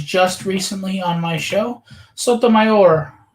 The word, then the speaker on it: Sotomayor: recently on my show sotomayor that's how you say it so here's the colored